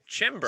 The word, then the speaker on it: Chymbor: It's like timber, but with a CH sound. Chymbor.